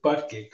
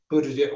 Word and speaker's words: Buttigieg: The current mayor of South Bend, Indiana, Peter Joseph Buttigieg, or Buttigieg.